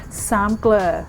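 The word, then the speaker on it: สามเกลอ: It's called sam glur.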